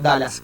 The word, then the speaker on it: Dulles: Dallas, la pronunciación es como Dallas, como el estado, perdón, la ciudad. La ciudad norteamericana, Texas, Dallas. Pero en realidad se escribe Dulles. Entonces, cuando yo empecé a investigar esto, me confundía. Dulles, ¿cómo se pronuncia? Se pronuncia como Dallas.